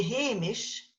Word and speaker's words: Hamish: So Seamus is James, it's the Gaelic for James, and then a Hamish, that's how you get the English proper name, Hamish, which people are called. H-A-M-I-A-I-S, they'll say in English, but that's where it's come from. It's come from the vocative case of the Gaelic.